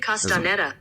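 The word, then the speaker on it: Castañeda: David Castaneda.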